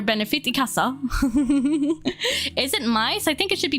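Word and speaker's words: Kamen Rider Myth: It's gonna be Kamen Rider Mice, pronounced mice but spelled like myth, and it's probably literally just gonna be Tom and Jerry Kamen Rider style.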